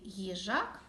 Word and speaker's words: їжак: їжа виділяючи перший звук їжак Давайте зробимо звуковий аналіз слова їжак у слові їжак два склади наголос падає на другий склад перший склад перший звук